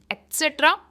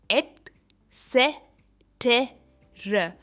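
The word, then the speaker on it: et cetera: एक्सेट्रा। इसकी pronunciation है eight से टे र, एटसेट्रा।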